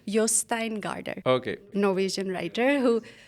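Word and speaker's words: Jostein Gaarder: is by I just recently learned the correct pronunciation Yin Garder okay no visan writer who who wrote I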